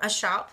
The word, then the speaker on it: scop: And there is a scene in the text where a shop does show up. By the way, shop is spelled SCOP.